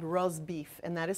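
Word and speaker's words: rosbif: particular they call it in Tuscany it's called rose beef and that is spelled ro s bi F and it is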